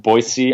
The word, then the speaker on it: Boise: One thing I feel bad about, there's a line in there about it should be pronounced Boise, Idaho, but we said Boise, Idaho, which is how people usually pronounce it, but that's wrong, and so we got